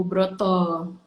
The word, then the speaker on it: Broto: kitchen awalnya brownies Bu Broto Bu Broto itu ngambil dari nama suami saya suami saya itu yudibrata kalau orang Jawa atau bilangnya berat itu dibacanya Broto Ya udah enak kayaknya